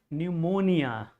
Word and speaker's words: pneumonia: So, this is pneumonia in which you find P, a very important, significant letter that is silent in this word. P is silent.